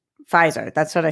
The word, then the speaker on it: Pfizer: Garth says it's pronounced Pfizer. That's what I said, right? F-I-E, Phi, like pie, Z-E-R, Zer, like Zer.